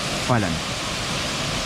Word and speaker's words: Falan: This is the name, Falan. How do you spell it?